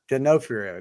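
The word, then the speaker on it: D'Onofrio: do you say his last name though Vincent genofrio genofrio there you go Law and Order Law and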